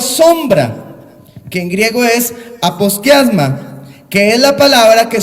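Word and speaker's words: ἀποσκίασμα: En griego es una palabra que se dice o se escribe por lo menos aposkiasma, así de sencillo, aposkiasma.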